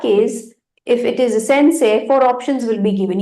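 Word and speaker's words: 先生: e Sensei e but we don't say Sensei e it's sensei so the spelling you will be having it as s say along with E ending but the original pronunciation will be Sensei say if you have e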